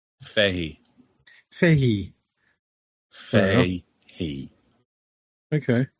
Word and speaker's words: Fahey: It's not Fahy. Fahey.